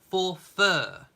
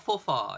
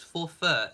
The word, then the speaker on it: Forfar: correcting me I am so sorry it is pronounced apparently for fur there we go so it's not for far it's for F Well try saying for f five times I stand corrected it's pronounced forur even though it's spelled for far uh Mary